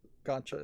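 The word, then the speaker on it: Gacha: Gotcha Gotcha Games is a weird title for a developer that's not actually making Gotcha games. Which Gotcha is spelled g a c h a.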